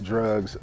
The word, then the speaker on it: (D)rugs: is called drugs it's called drugs yeah it's pronounced drugs you can see that the D is hyphenated